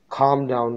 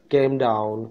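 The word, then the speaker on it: calm down: Pronounce नहीं होता था, मैं इसको प्रोनाउंस करता था कैम डाउन, खैम क्लैम डाउन, इस तरह पढ़ता था, तो इसका सही प्रोनाउंसिएशन खाम डाउन है।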